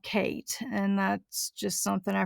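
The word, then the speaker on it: Khaite: kind of interpreted as kite maybe or kitey uh but guess how it's actually pronounced the name is a respelling of the nickname for the designer and the designer is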